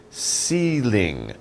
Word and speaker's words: ceiling: we call it a ceiling ceiling ceiling so it's like c same pronunciation different spelling si ling ceiling ceiling very easy